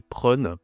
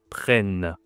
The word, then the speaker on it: prennent: Si je ne mets pas les deux N, ça fait prun. OK, c'est bizarre. Tu as besoin d'un autre N ici pour la prononciation pour dire tout simplement prennent.